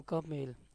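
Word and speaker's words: comb: where ji is silent M बी से कोम where B is silent next definition of word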